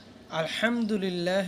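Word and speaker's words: الْحَمْدُ لِلَّهِ: আলহামদুলিল্লাহ রব্বিল আলামিন, এই আয়াতের আলিফ লাম এটা উচ্চারণ হবে সহজে। হা বড় হা, এটা বড় করে উচ্চারণ করতে হবে, ভিতর থেকে নিতে হবে।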